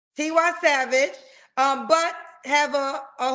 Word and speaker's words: Tiwa Savage: like T how you say her name again tiwa Savage tiwa Savage um but have a a holy Mary Vibe